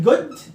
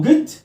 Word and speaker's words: good: احييه بالليل بالليل بنقول جود او جد خد بالك تجي هنا ما بقولش لا اعمل دروب احبس الهوا بتاع الجي جد ما اسمهاش جود اكسر شويه جد ايفنين